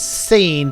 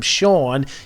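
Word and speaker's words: Sean: I was a kid I used to always read this as seen because that's the way it's spelled how can it not be seen if you wanted to call him Shan you would have spelled it with an sh butth that is actually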